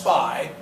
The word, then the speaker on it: SPI: Some peripherals are called SPI, and SPI is pronounced SPI.